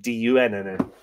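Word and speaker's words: Donn: Dun, D-O-N-N, means brown, but it is pronounced sort of D-U-N-N-N. D-U-N-N-N-N-N. D-U-N-N. Dun.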